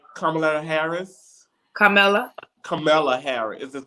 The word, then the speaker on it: Kamala Harris: And but actually, I want to speak on Michelle Obama and, is I'm pronouncing her name right, Kamala Harris? Kamala Harris. Is it Camilla?